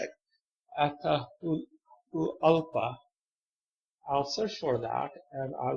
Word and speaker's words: Atahualpa: Don't ask me to pronounce this. How you say it? Atahualpa.